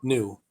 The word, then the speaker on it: Nu: It's just it's spelled NU, so we're pronouncing it new.